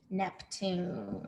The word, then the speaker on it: Neptune: like my name neptune neptune neptune capital n e p t u n e capital because it's a name and the e is silent neptune nice job if you